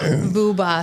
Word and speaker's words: Vuba: Are you talking about the yuba that rhymes with tuba? Yes, is that what you Vuba? Yeah, Vuba.